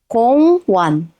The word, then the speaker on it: 공원: 공원(gong won) 공원(gong won) 공원(gong won) means park you have seen all six Hangul syllable block patterns in real Korean words 사과 수박 공원 how was that everyone?